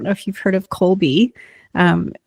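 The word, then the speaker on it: Kolbe: I don't know if you've heard of Colby. Um, it's spelled K O LB E.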